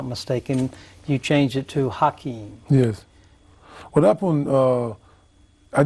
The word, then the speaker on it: Hakeem: you changed it to hakeim yes what happened uh I didn't really change it the the cor correct pronunciation okay that was the correct pronunciation is with h okay okay and then